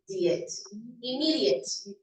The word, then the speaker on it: immediate: Immediate. Immediate. The stress is in the middle syllable.